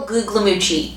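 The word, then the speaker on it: Guglielmucci: are talking about michael gugliucci yes that was his real last name and i know i'm saying it right because that's what was said in an interview with him but anyways if you do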